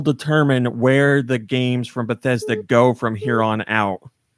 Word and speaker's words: Bethesda: It's pronounced Bethesda.